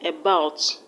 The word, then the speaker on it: about: about sure sound about the first level is e which is a sure sound and a sure sound can never be stressed so the stress is on the second level about as ordinary correct